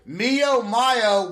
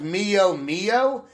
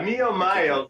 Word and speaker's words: Mio Mayo: to go ahead and play Mio Mayo which I accidentally pronounced as Mio Mio earlier you can you can understand why I messed that up yeah Mi Mayo that's about just hanging